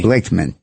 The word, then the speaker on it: Blakeman: Blakeman.